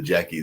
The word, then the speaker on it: Jaci: And I did remember and got the pronunciation, because you can look at it and think of it as something like Jassy or something like that, but it is the Jackie that is Jaci and doesn't have any K on it whatsoever.